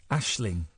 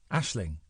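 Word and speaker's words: Aisling: that Ashley Ashling yeah Ashling Ashling Ashling Ashling Ashling you're saying in yeah Ashling a i s l i n g ashing RS I wouldn't pronounce the G I'm not pronouncing the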